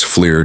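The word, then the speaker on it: FLIR: Inside this package, we've got forward-looking infrared that's fleer to you and me, plus a daylight TV camera, a laser rangefinder, and a laser spot tracker.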